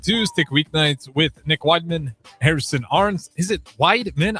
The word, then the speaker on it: Whyman: It's Whyman.